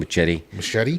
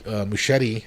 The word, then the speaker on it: Muschietti: Muschietti?